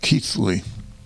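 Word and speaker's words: Keighley: by the way is spelled ke i g h l y but it's pronounced keithly the forge Village Lions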